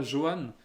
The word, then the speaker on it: Johan Berenger: Johan Berenger alors oui ça ça s'écrit avec un J mais c'est pas Johann c'est Johan Beringer voilà et lui par